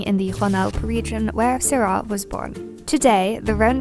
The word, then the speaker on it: Syrah: Syrah is the French name and is pronounced Syrah.